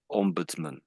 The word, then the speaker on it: ombudsman: Like when it's on the end comes out as something like mun I would say. Okay. This is similar here. Ombbudsman.